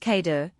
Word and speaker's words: KEDA: KEDA, pronounced Kater, can scale pods from event sources.